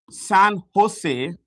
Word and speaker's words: San Jose: Cisco, headed, it's headquartered in a place called San Jose. The J is pronounced with an H in California, and the CEO is Chuck Robbins.